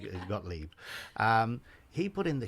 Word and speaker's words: Gottlieb: but carl gottlieb uh got leave i presume i think that's how he pronounced his name i was calling gottlieb because i was a kid seeing that name up on the screen but i think it's got leap um he put in